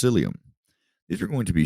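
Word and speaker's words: cilium: to know is cilia singular it would be pronounced psyllium these are going to be short hair like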